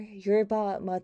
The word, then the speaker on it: yerba mate: or matcha oh so you're about me is pronounced you're you're about mate thank you oh you're about mate okay um that's good to know oh wow